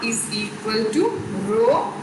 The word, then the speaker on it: rho: This letter is pronouncing as rho, R-H-O. R-H-O, rho, a Greek letter.